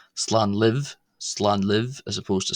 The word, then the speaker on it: Slán libh: Uh so if you're addressing a group of family members leaving, you would say slan live, slan live as opposed to slan lat.